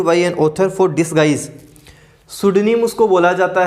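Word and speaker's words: pseudonym: हैं, लिखते हैं, उसको सुडनीम बोला जाता है। स्पेलिंग का भी थोड़ा ध्यान रखना, इसकी स्पेलिंग पी से शुरू होगी।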